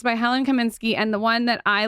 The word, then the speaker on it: Helen Kaminski: ever seen look at how cute it's by helen kasminsky oh yeah i've heard of that brand how do i forget i'm sure you pronounce it i pronounced it wrong lauren lauren